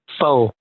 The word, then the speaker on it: pho: I also grew up Jewish, so a lot of my quote unquote white friends would pronounce it pho. So in Vietnamese we call it pho.